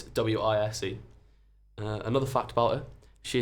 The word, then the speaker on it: Weyes: But it's Wise.